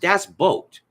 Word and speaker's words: Das Boot: this great German film called Das Boot it's pronounced Das boat which you think you know would be easy